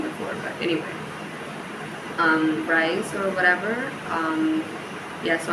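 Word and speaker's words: Rhys: Bridget and The Bodyguard who is rice or bris I don't know how the name is pronounced there's actually a guy named rice at school um I just looked it up it's actually ree which is really weird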